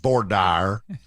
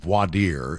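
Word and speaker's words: voir dire: grew up all the defense lawyers called it board Dyer we're in a board Dyer of the jury but it's called wadir and that's the correct pronunciation I I learned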